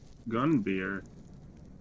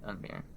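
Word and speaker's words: Gunviere: Gunbeer. And how would you spell that? G Veer, U like N V I E R E. Oh, Gunveer.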